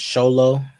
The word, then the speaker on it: Xolo: this for this chapter Zolo is pronounced sholo Xolo muskete is pronounced